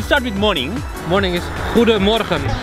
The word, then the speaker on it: Goedemorgen: Morning is Goedemorgen. Goedemorgen, that is the morning.